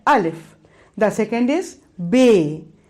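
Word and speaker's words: بے: The second is Bay, B, A, Y, Bay.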